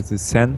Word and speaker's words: Xen: then they come like, if English people like pronounce my first name like, it's like this sin in the end of it. And I just took the sen from it and made it.